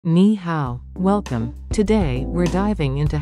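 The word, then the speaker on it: 你好: Ni is the third tone, and hao is the third tone.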